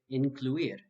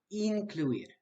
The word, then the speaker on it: incluir: An English speaker might be tempted to say incluir. However, this would be a mistake. The correct pronunciation is incluir.